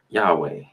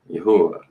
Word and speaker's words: Yahweh: Yahweh, Yahuwah, Yahweh. There's a lot of ways to pronounce it, but everybody probably know that one.